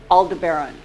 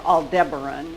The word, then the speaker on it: Aldebaran: Up here, Aldebaran, or Aldebaran, whichever pronunciation you prefer.